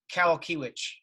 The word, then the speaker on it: Kowalkiewicz: It's pronounced Kowalkiewicz. So not close to Kowalski at all.